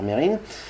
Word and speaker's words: Mesrine: fait il va vite mesrine père merrin disait ça se prononce pas donc on va dire mérine des proches va parler